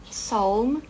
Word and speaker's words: Psalm: Em inglês, quando nós temos essa junção aqui do PS, esse P é mudo. Então, por exemplo, psychology, psychologist, é tudo com o P mudo. A gente fala direto só o S.